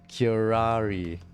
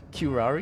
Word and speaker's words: curare: Pronunciation. Let me just do this really quick. I need to know this. Curare.